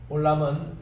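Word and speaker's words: עולם: 올람은 아인이기 때문에 여기에 이제 발음이 있다라는 표시일 뿐입니다. 오는 콜럼이기 때문에 모음에서 긴 말입니다. 코. 그리고 람 할 때 L입니다. 라메드. 그리고 카메스가 있어 긴 발음이에요.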